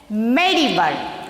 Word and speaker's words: medieval: Medieval. How to pronounce this?